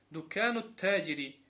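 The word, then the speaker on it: دكانُ التاجرِ: После нун идет сразу ударение на та. Дукану таджири.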